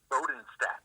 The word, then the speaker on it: Bodenstadt: how do you say your last name Bowden stat Bowden stat Alaskan Grizzly F altered so